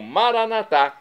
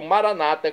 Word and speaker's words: Maranata: e agora eu clamo maranat como dizemos nós católicos ou Maranata como dizem nossos irmãos separados os evangélicos ou protestantes não importa a pronúncia o significado é o